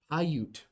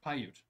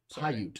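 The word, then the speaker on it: Paiute: Hayute. Pyute. Pyute.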